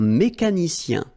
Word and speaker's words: mécanicien: Un mécanicien. Remember, I-E-N, ien. Like here, ien.